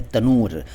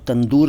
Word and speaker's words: तनूर: का पहले शब्द है तनूर तनूर है इसको आप लोग तंदूर कहते हैं आपके मैं भी तंदूर ही कहता हूं लेकिन यह सही शब्द है तनूर तनूर का अर्थ होता